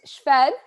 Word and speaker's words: Szwed: It's Szwed. So phonetically. Hold on. I said Szwed. But I think it's more like, if you were to spell it phonetically, So Szwed.